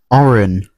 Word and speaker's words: Auran: Oren the Absolute or Oren the Act. And yeah, it's spelled like this, by the way.